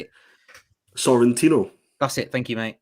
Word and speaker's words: Sorrentino: Sorrentino.